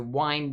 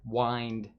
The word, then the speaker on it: wind: So we've got that phrase there, wind and down. Wind, not wind, remember. You can see there that it's spelled W-I-N-D, the same as the noun wind, but here wind is